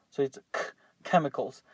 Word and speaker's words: chemicals: areas um very important the pronunciation of this is like a like a k or like a q so it's chemicals make sure you don't